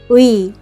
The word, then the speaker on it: 의: 나의 가방, 너의 사진, In spoken Korean, we often pronounce it as 에, to make it easier to pronounce when used for the meaning of possession.